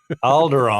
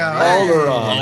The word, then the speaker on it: Alderaan: It rhymes with Balgaron. Alderaan. Yeah, there you go. Alderaan.